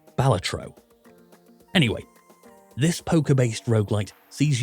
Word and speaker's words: Balatro: It's Balatro. Although, I've heard it's supposed to be pronounced Balatro.